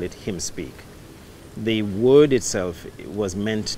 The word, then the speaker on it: Hymn Speak: Although it is spelled H-Y-M-N, I really wanted to capture this notion that him, referring to Christ, will speak while the H-Y-M-N is being sung.